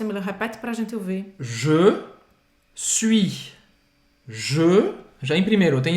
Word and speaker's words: suis: Então, je suis. Você não vai pronunciar esse S no final de suis.